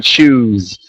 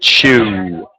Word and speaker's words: chew: H chew chw okay so you're you're kind of putting an S sound at the end you're saying choose um we just want to make that W chew yeah very good T